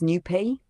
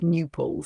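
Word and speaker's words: Knueppel: It's actually pronounced more like Newpol, so Khan Newpol. Yeah, that's what I thought. I thought it was Newpol. I thought saying people keep saying Knipple. That doesn't even seem phonetically correct, right?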